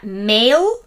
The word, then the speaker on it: male: lo que significa varón porque se pronuncia mail y no mal volvemos a repetirlo porque